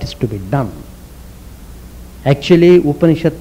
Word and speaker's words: Upanishad: Actually, Upanishad means it is combined with 3 syllables. Upa plus ni plus sad.